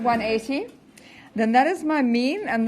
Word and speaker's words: mu: Then that is my mean, and the symbol that is used for mean with normal distribution is mu, okay, or me if you want to pronounce it properly, but nobody does.